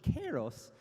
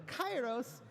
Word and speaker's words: Kairos: the Greek heritage that this is actually pronounced closer to Kairos, but we're using the ancient Greek pronunciation, which is closer to Kairos. And so please, those people that are like furiously typing right now, it's wrong. Put your keyboards down. Okay, Kairos. We're doing it on purpose.